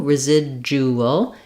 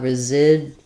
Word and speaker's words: residual: We're stressing on the zid syllable, and again, we have another Z sound for our letter S. And then this DU, residual, is a J sound. So we have residual.